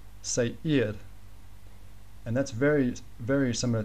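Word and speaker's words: Seir: s-e-i-r but you might pronounce that lack um say ear CR the pronunciation say eared and that's very very similar to zaired so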